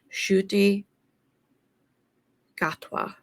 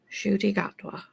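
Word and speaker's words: Ncuti Gatwa: this correct because I have looked at the pronunciation shy gatwa shoy shoy gatwa really hope I got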